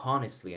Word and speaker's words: honestly: La H en inglés generalmente no es muda. Se pronuncia como. Pero en esta palabra no vamos a decir honestly. Aquí sí es honestly.